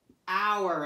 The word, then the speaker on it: hour: so know this word hour and remember it's a tricky word because you don't say that H and you know this